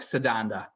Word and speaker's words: Setanta: is named Setanta, and Setanta will become Cuchulainn. Santa Claus. Setanta. Oh, no, okay. and it's probably pronounced more like Sedanda, but anyway, but it's spelled Setanta.